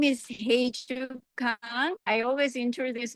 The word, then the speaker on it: Hyejoo: So, yeah, my name is Heiju Kang. I always introduce my name like, you know, the Beatles song Heiju, my first name, so people can at least, you know, pronounce close enough.